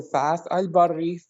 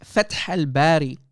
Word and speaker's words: Fath al-Bari: Go to Fas al-Barri 48:14. Little coward. Waste of time. Waste of time. And it's Fath al-Bari. You idiot. You can't even pronounce the name correctly.